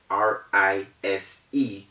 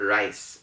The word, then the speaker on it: rise: so we have hesitate r i s e is not rice it is rise so you rise up